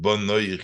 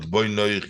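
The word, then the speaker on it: בניך: That says don't and pronounce it bonoich, you shouldn't, but boinoich, you builders.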